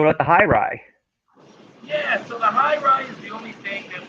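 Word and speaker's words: Hye: the yeah so the highr is the only thing that we've ever done with a different Mash F so the high is a bourbon it's spelled h ye R ye uh with 52% white panan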